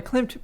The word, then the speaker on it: Klimt: Is that how you pronounce his name? Klimt, yeah. Gustav Klimt.